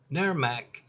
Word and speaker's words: NAE-RMC: For over 10 years, NAE-RMC pronounced NERMAC has been providing the most comprehensive, up-to-date mold assessor training available, bar none, and it's always free.